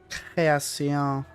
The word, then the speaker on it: Création: I'm pronouncing it like a true Frenchie. Création.